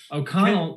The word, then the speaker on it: O'Connell: one syllable three letters o'connell the accent's on the second syllable but you can't omit the o so yeah [ __